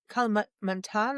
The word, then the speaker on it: Kalimantan: Yeah, just look at like Sumatra, Java, Kalimantan. I can't pronounce that. Kalimantan.